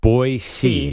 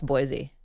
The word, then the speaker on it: Boise: that matters there's a a pronunciation here that says boisey that's how you just pronounce Boise it's not Boise it's boisey so should I say